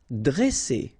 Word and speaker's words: dresser: Vowel, vowel, double S, so you pronounce it really strong like S, okay? Dresser. And then when you get a double consonant after a, you open the sound of the so it will be like e, dresser.